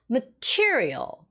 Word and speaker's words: material: Material. Material. The second syllable.